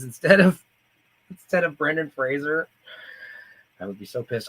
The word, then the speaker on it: Fraser: he said hey I'm Brendan Fraser not Frasier if you say Frazier I know where you